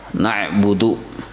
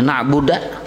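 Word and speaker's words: نَعْبُدُ: Iyyaka na'budu, na'budu dibacanya na'buda, kada berubah arti.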